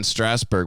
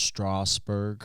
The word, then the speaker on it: Strasberg: practice stephen a bunch they're like it's pronounced strasbourg get the out of here it's my last name i was thinking about